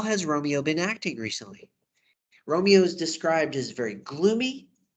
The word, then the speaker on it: Romeo: Romeo is described as very gloomy and melancholy. His name is Romeo, rhymes with woe, which means sadness.